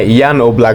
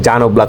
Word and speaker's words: Jan Oblak: দ্বিতীয় স্থানে আছেন জান ওলাক। মানে ইয়ান ওলাক বলে। ইংলিশে উচ্চারণ করতে গেলে জান ওলাক হয়ে যায়।